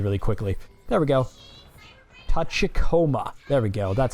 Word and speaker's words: Tachikoma: Tachikoma.